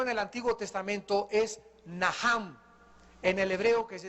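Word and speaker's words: נחם: el Antiguo Testamento es najam en el hebreo que se escribe nacham la ch en el hebreo se pronuncia como jota y significa cambiar la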